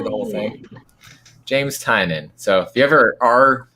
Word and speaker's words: Tynion: James Tynion.